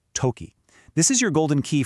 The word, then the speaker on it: とき: And that word is toki, pronounced toki.